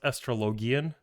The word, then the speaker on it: Astrologian: thing I'd healed before was as an AST astrologian astrologian in it's pronounced astrologian keep up with the times on ifra Extreme